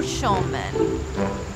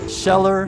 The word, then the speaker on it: Schneller: Scheller, no Schulman. Scheller, not Schulman. Scheller, Knachtelman. Scheller, Knachtelman. No matter how you say it, our local family-owned plumbing, heating, and air team is here for you. There's no A.